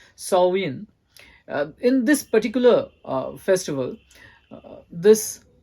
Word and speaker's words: Samhain: Celtic Festival of Samhain written as Sam Hein pronounced more like salvin in this particular Festival this festival of light